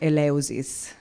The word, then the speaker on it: Eleusis: So, Eleusis, I know how to pronounce it the Italian way, Eleusis in English.